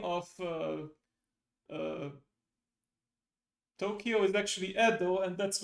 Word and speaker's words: Tokyo: Tokyo. Correct. One of the two. And oh, hang on. It's with a long O at the beginning, right?